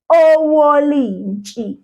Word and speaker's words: owolintshi: Now that sound, N-T-S-H, that sound, we say it like this. You must sort of almost put your teeth together. Not all the way like this. No. Almost close together. And you say, so, Wolintshi.